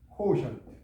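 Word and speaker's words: quotient: 이거는요, 여기가 액센트 있어요. 이걸 이렇게 외워야만이, 여기는 A로 돼 있죠? 여기 보면 주보에는 A가 아니고 O 맞아요. 코우, 여기가 액센트, 코우, 코션트, 여기 코션트. T가 C 발음 나는 경우 있죠? 코션트. 이렇게 발음해야 돼요.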